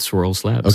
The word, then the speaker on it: Swirlds: 100 clear to me but swirled and my pronouncing right swirled Labs that's right swirls Labs okay yeah it's a bit of a mouthful